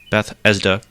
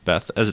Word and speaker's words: Bethesda: first conference that started Beth esda that's the only way could say it properly Bethesda Bethesda Bethesda Beth Bethesda Bethesda Bethesda right Bethesda yeah Beth E there's no F in there I'm not saying F